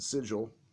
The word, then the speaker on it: Sigil: called ski I'm sorry I didn't know the sigil was cross Jen's big thing in their comics